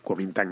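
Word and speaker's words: Kuomintang: el partido nacionalista chino que en chino se dice kintan más literalmente cuam minang es partido nacionalista Chino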